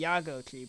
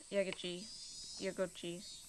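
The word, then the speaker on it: Yagouchi: The issue is the emphasis upon the different syllables. Like, you'd think that would be Yagochi because obviously it's how it is in English, but it's not. Is Yagochi.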